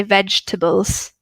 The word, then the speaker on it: vegetables: if you want to practice it with me vegetables okay we don't really pronounce ii so ii ii we just say vegetables usually or do you pronounce it differently didn't know with the same